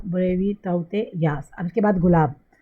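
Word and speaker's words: Tauktae: Okay, अब हम आते हैं नेक्स्ट इंटरेस्टिंग चीज़ पे कि जो साइक्लोन अभी ताउते आया था, ये ताउते, इसका प्रोनाउंसिएशन ताउते है।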